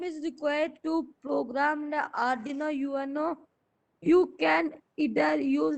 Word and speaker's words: Arduino: You know that Arduino software IDE is required to It's Arduino. R is silent.